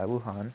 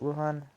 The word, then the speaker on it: Wuhan: problem going on in you know Wuhan uh Wuhan is how you pronounce it Wuhan that's where that's where it originated right you